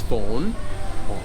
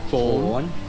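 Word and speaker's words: Fon: But the pronunciation is fawn. Phone.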